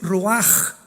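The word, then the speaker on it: רוח: La palabra para espíritu en el hebreo es la palabra que es roaj, que se escribe ruach con ch, pero repito, ese pronuncio pronuncia como J. Roaj.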